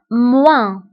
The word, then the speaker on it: moins: في عملية الطرح كنستعملو ناقص أو moins moins moins. فانتبهوا بالنسبة للموا كنكتبوها بأس في آخر الكلمة ولكن لا تنطق moins.